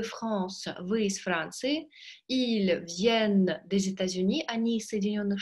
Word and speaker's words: viennent: Обратите внимание, произношение единственного и множественного числа. Il vient, носовой. Il vient, звонкий N на конце обязательно произнести нужно.